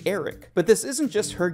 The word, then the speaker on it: Erryk: As she speaks to a knight of the Kingsguard, she mistakenly calls them Sir Arryk before he corrects her that it's actually Erryk.